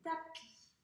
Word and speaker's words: tapis: Attention, il y a une lettre muette à la fin, donc on ne doit pas la prononcer. Un tapis.